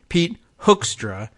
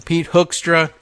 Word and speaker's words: Hoekstra: I was like, oh, it's H-O-E-K, like Van Leeuwenhoek, the 18th century biologist, Van Leeuwen. I don't know why I remember the name, but spelled the same way with the H-O-E-K. So Van Leeuwenhoek.